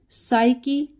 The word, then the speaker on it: psyche: वो शब्द है साइकी, PSYCHE।